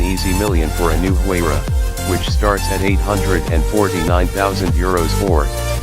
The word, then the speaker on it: Huayra: But the Huayra, pronounced Yra, has the requisite assets.